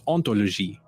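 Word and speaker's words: hantologie: When spliced together, the resulting word is ontologie, which with its silent H sounds quite similar to ontology.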